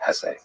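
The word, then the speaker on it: Hesse: And by the way, please allow me this pronunciation of his last name. I've heard some people say Hess, but my whole life I've always said Hess.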